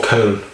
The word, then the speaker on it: Köln: from Cologne, in German, or Köln as they say in Germany. It's like someone from Scotland is considered Scotch. Someone from Köln is called Kölsch.